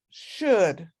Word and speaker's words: should: But this one is should. There's no L pronunciation at all.